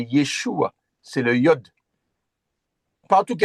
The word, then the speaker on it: Yeshua: Hm c'est pas Jésus mais c'est Yeshua.